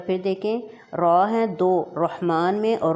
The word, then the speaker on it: الرحمن: گے۔ ایک بار پھر دیکھیں، را ہیں دو، رحمان میں اور رحیم میں، دونوں کو بولڈ پڑھا